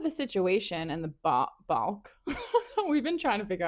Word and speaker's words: balk: that we Googled it, and the correct pronunciation is basically saying a W instead of an L. So, ba ba Bock.